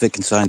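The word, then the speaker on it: Wittgenstein: wienstein viin it's pronounced viin but it's spelled with a W um and philosophical investig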